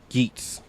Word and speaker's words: Geats: Okay, it's pronounced Geats.